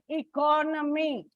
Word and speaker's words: economy: There is a shift, like economy. It is on the second syllable.